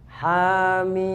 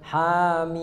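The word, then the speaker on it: حم: Ya, jadi di situ nggak ada tasdid, biasa aja hamim. Jadi jangan sampai hamim, ya. Ya, yang belakang hamim, ya, hamim. Terus jangan juga ujungnya ditahan, jangan hamim, jangan, ya.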